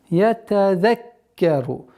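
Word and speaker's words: يَتَذَكَّرُ: Ятазаккару. Каф, удвоение каф.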